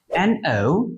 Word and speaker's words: know: আবার NO যার অর্থ হচ্ছে না, আবার KNOW যার অর্থ হচ্ছে জানা বা চেনা।